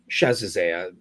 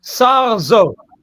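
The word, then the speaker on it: Sarzeaud: a historian named Nicholas Chazizé. I apologize for mispronouncing his last name, but this is, how do you say it? Sarzo. Excellent. Nicolas Sarzo.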